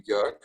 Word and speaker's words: Joerg: So it's a German name, and I always say, think about the city of New York, forget the new, and then you are there. Because maybe to lighten the mood a little bit up, the real German pronunciation would be Jörg, which is too close.